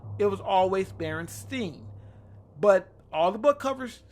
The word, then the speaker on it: Berenstain: know some of the big Mandela effects the berenstain bears they are the way it's spelled Berenstain that's how it's spelled and pronounced